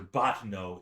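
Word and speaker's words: Bottineau: and prose class with professor batmo b-o-t-t-i-n-e-a-u professor botteno is our priest of milieu got a poetry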